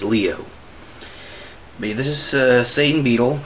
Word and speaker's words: Leo: It's actually pronounced Leo. It's not Leo. It's Leo.